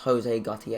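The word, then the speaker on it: José Gautier: I always knew his name was pronounced Jose Gautier, and I always hear people pronounce Jose, and I'm like...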